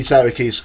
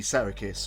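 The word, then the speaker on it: Psarakis: their current vocalist Vicky Sarikis, or Sariki, I believe it's Sarikis it's pronounced, and this is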